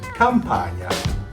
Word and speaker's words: Campagna: The GN sounds a little hard for America, but Italians pronounce it gnocchi. Just like you say lasagna, or my last name, Campagna.